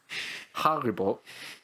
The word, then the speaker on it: Haribo: think of mine um is apparently how you pronounce it so more like harry potter haribo which makes sense because the oh i've always